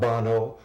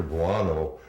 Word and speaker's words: Buono: Victor, not Bono or Bono, but Victor Buono returned as one of my favorite all-time characters, King Tut. Rhymes with guano.